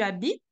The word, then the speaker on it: habites: Donc, au présent, est-ce que tu habites? Then you stop to the T sound. And when you go to the imperfect, the T sound is pronounced and then you have the sound E that is following.